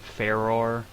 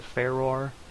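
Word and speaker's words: Farore: goddess of Courage um I pronounce it feror um because that just it feels better in my mouth to pronounce it ferar um I would every time I pronounce the name I'd be like I would do like three different pronunciations but I just settled on feror it could be far but feror sounds like the name of a goddess to me and that's a that's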